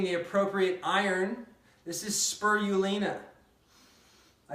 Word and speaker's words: spirulina: This is spirulina. I said it right, spirulina.